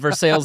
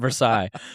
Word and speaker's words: Versailles: You went Versailles, Indiana, and I went Versailles.